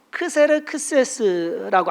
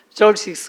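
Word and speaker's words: Xerxes: 아하수에로는 세계 역사 가운데서 크세르크세스라고, 한국 발음은 그런데요, 영어 발음은 진짜 어려워요. 절식스, X로 시작하거든요. XERXEX인가 그래요. 그래서 저식스 그렇게 얘기하는데, 이 아하수에로는 성경에 누구와 연관이 되냐?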